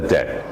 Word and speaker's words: debt: remember that it's like there's no big debt he owes a debt but it's de BT in the spelling there are words like that where the letter is silent and what instrument